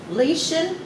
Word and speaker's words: Lieschen: talking to lisian did i pronounce your name right you pronounce my name right how do you spell your first name l-i-e-s-c-h-e-n is it german it is a german name with the puerto rican pronunciation oh and my mom